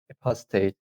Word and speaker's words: apostate: the legion or apostate here in this case yeah you should pronounce the t state um but uh